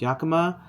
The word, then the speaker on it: Yakima: So Rivian sells an adventure key set that you can utilize with, it's pronounced Yakima.